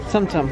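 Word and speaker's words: Tsum Tsum: Sumsum.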